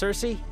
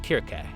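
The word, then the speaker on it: Circe: Are we sure it's not pronounced Cersei? Yes. If you look up the original Greek, it is written in such a way that it should be pronounced Kirke.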